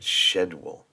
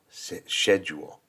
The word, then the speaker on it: schedule: whole shedule thing but you wouldn't say schol you I always hear school but shedule schedule that just sounds weird to me schedule yeah would have been just easier if they had SK d right just would have been way easier okay section number two